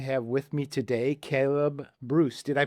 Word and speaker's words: Brus: Hi and welcome to another edition of the Trust Cast Show and I'm really happy to have with me today Caleb Bruce. Did I pronounce the last name correctly, Caleb?